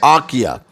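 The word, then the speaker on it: Achaia: greece and he went to a place called archea it's spelled in the bible a-c-h-a-i-a it's spelled in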